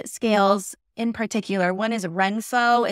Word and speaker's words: Renpho: One is Renpho. It's spelled RENPHO.